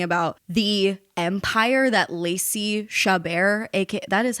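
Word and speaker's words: Chabert: Moms correct Us in the comments if we're mispronouncing the Queen's name respectfully you put the empasis on the wrong salable it's shabar is shabar shabar yeah shabar shab shabar K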